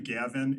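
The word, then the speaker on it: Gawin: My name is Gavin. It is spelled with a W. It's pronounced like a V.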